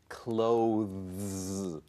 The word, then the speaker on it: clothes: not easy to say clothes you don't have to worry about that pronounce it the same as close the door you don't need the